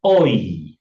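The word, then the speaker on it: אוי: Any Miriam O slim bukan mereka bukan mereka bukan bacanya O tapi oi oi oi kebetsuan ba telepon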